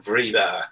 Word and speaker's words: Vridar: Okay, I pronounce it Vridar.